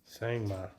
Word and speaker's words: Sangoma: to approve Sangoma. Is that how you pronounce it? Sangma. Sangma. Yeah.